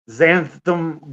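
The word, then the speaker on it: xanthan: But that's what I'm red for and zan zantham gum. I do. Isn't that right? Like that x is pronounced like a z, isn't it? Kind of like xenomorph. Like a xenomorph is spelled with an X.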